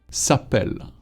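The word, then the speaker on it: s'appellent: Now, the verb is going to be s'appelle. Double L, ENT at the end, but you don't pronounce the ENT.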